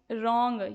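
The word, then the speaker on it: wrong: रॉन्ग या रॉन्ग में आपका डब्ल्यू साइलेंट होता है।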